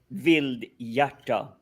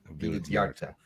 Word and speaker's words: Vildhjarta: That name was really tricky to pronounce properly. It's Vildhjarta. Vildhjarta.